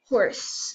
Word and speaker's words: Howrse: going to be playing a game called horse and notice how it's spelled it is an h o r s e is h o w RS e and um so I'm